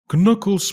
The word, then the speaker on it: Knuckles: good no but seriously the K in Knuckles is silent yeah I've heard it